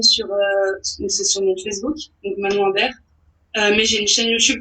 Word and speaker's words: Manon Imbert: Allez sur la chaîne de Manon Imbert pour voir le court-métrage Manon Imbert. Voilà. Comme ça se prononce.